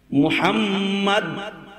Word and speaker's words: মুহাম্মদ: আপনার আমার নবীর নাম মুহাম্মদ সাল্লাল্লাহু আলাইহি ওয়াসাল্লাম, নামটা উচ্চারণ করতেও দুইবার চুমা খাওয়া লাগে। মুহাম্মদ আদরের সাথে নামটা উচ্চারণ করতে হয়, ঠোঁটে ঠোঁটে দুইবার চুমু হয়।